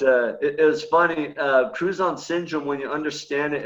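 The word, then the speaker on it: Crouzon: said it right on it's cruise on syndrome it's like crouton that you put on your salad with a z right and i didn't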